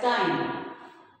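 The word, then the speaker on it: thyme: strong it is spent as time it is silent tyne in time which bushy aromatic herb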